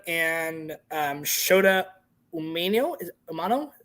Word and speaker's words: Umino: Is it Umano? How to pronounce that one? Umino. Omino, thank you.